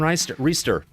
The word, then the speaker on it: Reister: ADRIAN REISTER. I forgot to ask how to say his name. Did I get it right, Adrian? No, it's Reister.